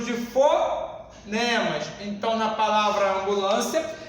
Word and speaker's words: ambulância: Eu pronuncio ambulância. Observe, senhores. Eu foneticamente não pronunciei o M e não pronunciei o N.